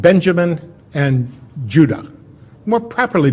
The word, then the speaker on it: Judah: were called Benjamin and Judah more properly pronounced Ed UDA because we didn't get the harder sound to the J until about 200 years ago so this is what